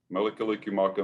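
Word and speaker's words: Mele Kalikimaka: Mili Kalikimaka Mai Ohana.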